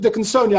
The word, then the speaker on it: Dickinsonia: It's called Dickinsonia.